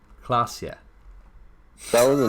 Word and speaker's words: Klasje: Klasje is pronounced Klasje. That was the name of that girl. Klasje. So, Revachol, Oranje, Klasje.